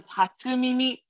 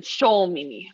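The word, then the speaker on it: 初耳: googled it while you're doing that and it's pronounced as hatsumimi and it means hearing something for the first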